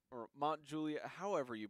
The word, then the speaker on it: Mount Juliet: up we gotta face its Mount Juliet the emphasis is on jus Mount Juliet say it again Mount Juliet Batum got it welcome to Mount Juliet anyways you've driven insane